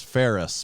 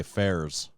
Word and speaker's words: Faires: first so we understand your last name is Ferris but we hear some people say fairs no you said it right the first time do do people get